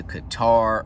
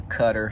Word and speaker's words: Qatar: 2007 i went on uh my first deployment to qatar or cutter however you want to pronounce it and in 2009 i